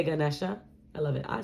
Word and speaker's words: Ganesha: Pile 2, you've got one of my Ganesha or Ganesh. I've heard so many pronunciations. I say Ganesha.